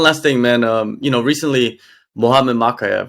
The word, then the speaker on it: Mokaev: Mokaev.